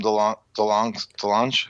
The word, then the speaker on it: DeLonge: And I think that was through Tom DeLonge.